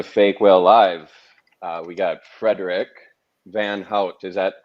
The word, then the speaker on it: Vanhoutte: How do you pronounce that last name? Vanhoutte, but you did pretty well. I mean, Vanhoutte. the most Right. English pronunciation is Vanhoutte, which is nice. Vanhoutte. I like Vanhoutte.